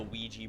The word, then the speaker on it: Ouija: have us use the Ouija board. We should... And yes, I keep calling it that, even though I know that's not how it's technically pronounced. The curse of Ouija. You know, like W-E-E-G-E-E.